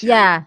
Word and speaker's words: Ceres: It's spelled Ceres, but it's pronounced Ceres.